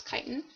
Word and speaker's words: chitin: usable source of energy chitin i know it looks like it's not pronounced that way but it's chitin it's found in the